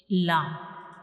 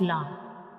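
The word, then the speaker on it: ل: So when we pronounce lamb, the tip of the tongue will touch the gums behind the upper front teeth.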